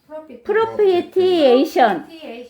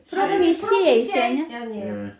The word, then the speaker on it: propitiation: 프로피시에이션이야? T라고 안 해? 네. 프로피시에이션.